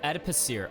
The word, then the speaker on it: adipocere: I looked it up, but how do I pronounce this? Adipocia? Adipocia. Oh, adipocere.